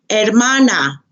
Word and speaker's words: hermana: la familia sister la hermana remember the H is silent la hermana la hermana brother el